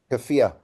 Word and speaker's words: keffiyeh: a manger, which was the How do you pronounce that head covering for the Palestinians? Keffiyeh.